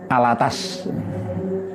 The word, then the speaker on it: Alatas: Al-Attos tulisannya, tapi bacanya Al-Attas. Al-Attas, bukan al-bawah, ya.